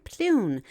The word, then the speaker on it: Pleune: Ron Plune, that's spelled Pleune, will hold an open forum and information meeting in the Cedar Springs Library from 6:30 p.m.